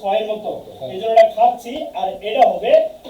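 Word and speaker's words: 같이: বসে তাদের পরে যদি ইয়ং বসে তাহলে কি উচ্চারণ হবে ক্লিয়ার করেন যে দেখেন আমি কিছুক্ষণ আগে লিখছিলাম যেমন এটাই কি হবে খাচ্ছি কেন বলছি যে এটা হচ্ছে কি থিউত থিউ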